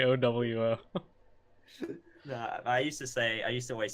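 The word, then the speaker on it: OwO: are non-weeb speaking, and they thought it was pronounced oh, whoa. So they were like, what does oh, whoa mean? So then I was like, it's pronounced O-W-O, like you sped it out, but we're going to keep with the meme of O-wo.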